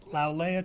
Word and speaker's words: Lau'Lea: Lau'Lea Travels.